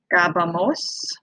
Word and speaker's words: jugábamos: be jugaba, jugabas, jugaba, jugabamos. Okay, and yes, that is an accent on the nosotros form. It's the only form that has an accent in the imperfecto.